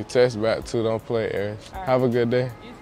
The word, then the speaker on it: Aris: Oh, so just like Paris without the P?